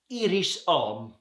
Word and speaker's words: Iris Homme: In this, I'll stay on the citrus category, we've got Iris Homme, or Iris Homme, if you want to go for some French pronunciation, from Parfum Sartori.